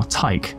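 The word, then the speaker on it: Tycho: there are subtypes now Ty like Tao the AI in Marathon rhymes with psycho slow charging two damage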